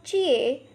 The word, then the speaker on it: jie: The next Pinyin is Jie, has a pronunciation of Chie.